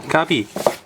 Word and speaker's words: Kirby: My favorite Nintendo character overall is Kirby, or Kabi, depending on how you want to pronounce it.